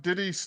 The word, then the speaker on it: Diddy: I heard the screaming but yeah kid like Diddy rhymes with kitty for a reason.